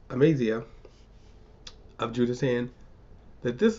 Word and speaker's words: Amaziah: Joad said of Israel sent word the king amadiah of Judas and uh I made the eye it's amazia of judah's hand that this that was 11